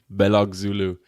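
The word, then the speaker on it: Belözoğlu: 2018 M belulu can we have that surname pronunciation again please Al M belulu belog Zulu is correct he was the captain of turkey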